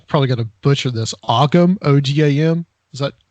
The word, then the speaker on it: Ogham: But yeah, and I'll say Ogam for now, just because it's spelled Ogham, the Ogam alphabet.